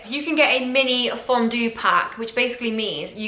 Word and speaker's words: fondue: date night activity am I saying it right Fondo fondue like a chocolate fountain I think I saw